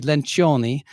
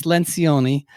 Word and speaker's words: Lencioni: you say it it's coa actually if you pronounced it in italian would be lynch oniy but it's Lencioni and the book has sold over three million